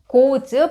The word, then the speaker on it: goes: 얘는 goes 발음이 is가 아니라 goes가 된다는 거 그거 참고하세요.